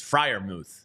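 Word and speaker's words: Freiermuth: He says it's Frier Muth. Frier Muth. Okay, I finally got one right.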